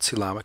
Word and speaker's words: coelom: These are called coelomic spaces. Sometimes Carlson calls them coelomic vesicles. Here's a pronunciation guide. C-lom, like Tom. Coelom, ick.